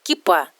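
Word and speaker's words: כיפה: На иврите в этом слове ударение ставится на последний слог и произносится кипа.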